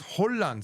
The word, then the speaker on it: 혼란: Even though Japanese is rang, when Korean goes N to an R, it becomes ul. So this is Oh no, it's Hollan.